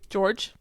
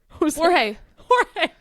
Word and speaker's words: Jorge: George. Isn't it? Jorge. Oh my god, I'm sorry, so it's spelled like George. That so threw me right off.